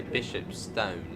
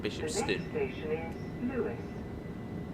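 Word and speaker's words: Bishopstone: And should say Bishop Stone, not Bishop St. Louis.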